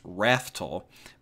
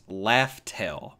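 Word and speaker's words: Laugh Tale: supposed to be pronounced rattle but it's laughs tail so it's actually two words and yeah that's I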